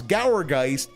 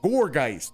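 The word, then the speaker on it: Gourgeist: But then um gorggeist he wants to pronounce gowergeist even though it's a pumpkin. It's a haunted pumpkin. It's very clearly the emphasis that the the the analogy is supposed to be gourd. So goregeist Dave, why are you so bad with names?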